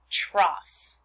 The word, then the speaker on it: trough: And this word is pronounced trough.